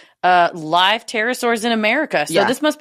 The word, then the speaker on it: pterosaurs: Pterosaurs is spelled with a P.